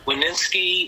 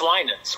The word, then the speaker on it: Winans: pronounce my name correctly they'd say leninsky i'm like there's no ski at the end of that right winer there's no r in it and a lot of women's but um it's linens with the eye being long and so after the